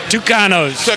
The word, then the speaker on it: Tucanos: got the spelling right t u c a n o s pronounce it tanos tanos in that order